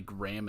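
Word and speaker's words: Grahm: Like apparently Graham and Grom, everyone pronounces it differently. I pronounce it Grom because it's spelt like Strom. Yeah, they added the purveyor here, the unique, non-hostile mole miner.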